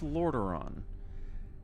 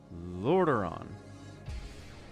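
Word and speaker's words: Lordaeron: Lorderon. Jared cannot pronounce Lorderon. I don't know what it is. It's three syllables. Lord Ron.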